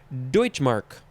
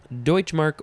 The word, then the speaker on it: Deutsche Mark: the next word you Deutsche Mark Deutsche Mark or you can add a syllable Deutsche Mark two words